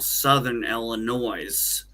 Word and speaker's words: Southern Illinois: in what we call Southern Illinois. And notice I Yeah. put the accent on the S because down in Illinois, that's how we refer to it.